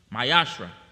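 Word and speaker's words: מעשר: verse 8 through 10, which means 10th in the Hebrew, and it is pronounced Mayashra.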